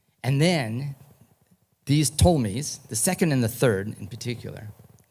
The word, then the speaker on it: Ptolemies: However, the story I want to tell you, fast forwards another till about 300 BCE, after Alexander the Great told me, the P is silent.